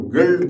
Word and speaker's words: Gilead: ये बहुत कम लोग जानते होंगे कि अमेरिका की जो गिल्ड कंपनी है, एक्चुअली उसको हम लोग गिल्ड यहाँ पर प्रोनाउंस करते हैं, लेकिन उसका जो स्पेलिंग है वो GILEAD है।